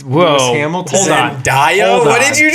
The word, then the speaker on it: Zendaya: worked with Usher, Zendaya, Wow. Whoa. Lewis Hamilton. Hold on. Zendaya?